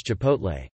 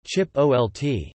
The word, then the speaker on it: Chipotle: another words and emails my mom cannot pronounce Chipotle she says chip Olt nuclear instead of nuclear